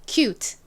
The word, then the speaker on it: cute: 귀여운 한번 따라해 볼까요 cute cute 이렇게 틀을 너무 세게 발음하지 않고 조금 살살 발음해 주셔야 더 자연스러워요 자 한 번 더